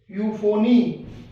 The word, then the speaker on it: euphony: Next, ई के साथ यू हो तो यू, यू की साउंड आएगी। जैसे इस वर्ड से देखते हैं, EUGENIC, यूजीनिक। EULOGY, यूलॉजी। EUNUCH, यूनक। EUPHONY, यूफोनी। EUROPE, Europe.